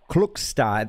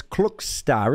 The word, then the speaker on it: Klokstad: this right chance cook star it's it's spelled k-l-o-k-s-t-a-d but it's clock star is that Norwegian that